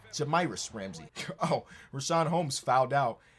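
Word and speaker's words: Jahmi'us Ramsey: woodard and jamiris ramsay i think i kept saying jamarius ramsay in the last episode and i want to disrespect homie i want to pronounce his name right jamiris ramsay oh rashaan holmes fouled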